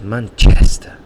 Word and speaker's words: Manchester: pronunciation from Manchester because he says Manchester and he really exaggerates the chest and that's where the stress is in that word in that noun and likewise um to